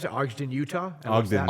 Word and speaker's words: Ogden: Is that how you pronounce it? Ogden, Utah? Ogden, Ogden, Utah.